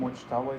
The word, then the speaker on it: Mujtaba: Mujtaba is correct.